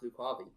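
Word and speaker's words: Lucavi: Is that Oh, as of this version, it's pronounced Lukavi.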